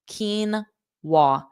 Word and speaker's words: quinoa: house salad and then number four is a quinoa quinoa kenwa quinoa salad so quinoa is a grain and